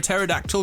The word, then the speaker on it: pterodactyl: can't you hear a pterodactyl going to the bathroom cuz the p is silent it's old but it's